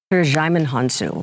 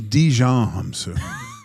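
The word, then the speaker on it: Djimon Hounsou: Yeah, this is how you say it. Jaimin Hunsu. Well, you know. Jaimin Hunsu. I thought it was Dijon Hunsu. Looks like Dijon mustard, yeah.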